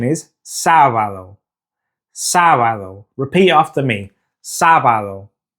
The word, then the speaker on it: sábado: Now to say Saturday in Spanish, it's sábado. Now just like miércoles, sábado also has an accent above the first syllable. So we need to stress that first syllable when we're saying it in Spanish.